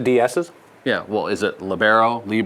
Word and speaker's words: libero: And how do you personally pronounce the defensive specialist position? The DSs? Yeah, well, is it libero?